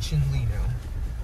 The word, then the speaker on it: Chinle: without further people just pronounce it shin lino so very thirsty trees